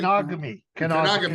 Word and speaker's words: Kenogami: And he's born in, tell me if I'm pronouncing it wrong, in Kangami, Quebec, right? Kenogami.